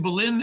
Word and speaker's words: Belen: And it's in Belen, if I'm saying it correctly, New Mexico, B-E-L-E-N, New Mexico.